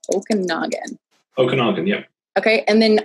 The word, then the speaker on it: Okanagan: say it again ash okay okay tesla owners okinawa okanagan okanagan yeah okay and then on twitter do